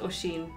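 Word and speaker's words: Oisín: huh ushing ocean and there's lots of lads called oshin in ireland like washing machine you know like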